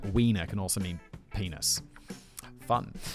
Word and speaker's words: Wiener: How do you say that in German? Because they pronounce it like a V, right? Wiener.